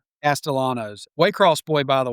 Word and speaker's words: Castellanos: Castellanos. Yeah, Castellanos.